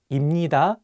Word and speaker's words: 입니다: So if you pair 비읍 with 니은, you can pronounce 비읍 as 미음. Finally, you'll get 입니다 instead of 입니다.